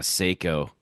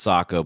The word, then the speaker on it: Sako: action as like a Seiko. Mm. And yes, I know it's pronounced Sako, but I choose to say Seiko.